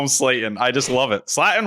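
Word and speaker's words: Slaten: I love the way he pronounced Justin Slayton's name. Do that as well. Huh? What does he They say? call him Justin Slatton. Slatton every time.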